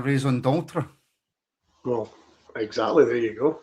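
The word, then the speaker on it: raison d'être: This is our Rising Detry. Oh, no. John's lost me. Is it not a raison d'etre?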